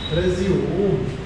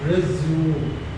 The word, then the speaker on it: resume: This word, noun and verb, resume. So it is resume.